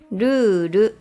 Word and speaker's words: ルール: Ruru or rule.